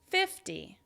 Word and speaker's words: fifty: You notice that the "teen" has stress on the second syllable and you can hear that "n" at the end, whereas the "tens" all have stress on the first syllable and then the "ee" at the end is less distinct. It's less stressed, it's not as loud.